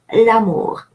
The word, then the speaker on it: l'amour: with a vowel A, then the E from the article drops and we have an apostrophe that then links the two words and they are pronounced as if it was one word, l'amour.